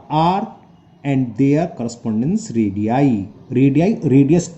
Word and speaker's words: radii: है रेडियाई की spelling, रेडियस का प्लूरल होता है रेडियाई, इसे बोलते हैं हम रेडियाई।